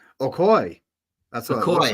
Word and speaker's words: Okoye: Okoye. Okoye.